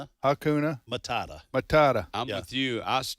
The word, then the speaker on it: Hakuna Matata: Tom and making him pronounce the word again because I can't pronounce it myself. Hakuna Matata. It's Hakuna Matata.